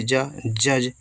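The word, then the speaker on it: judge: जे य से जा डी साइलेंट है जी से जा जज जज मतलब जज या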